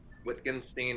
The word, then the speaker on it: Wittgenstein: much about white whitstein wittgenstein how do you say his name language game guy wickenstein wittenstein richtenstein which can yeah whatever starts with a w but pronunciation is a v i think you like